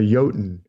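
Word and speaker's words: jotun: Thor goes fishing and goes fishing with a yotan in order yota naik a giant a frost giant it's spelled with a J but they pronounced their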